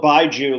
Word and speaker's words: Bijou: I know it's spelled Bijou, like a bisexual Jewish person, but it's not. It's Bijou.